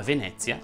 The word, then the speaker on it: Venezia: Ovviamente non sono a Venezia, ma Venezia va pronunciata con la E aperta.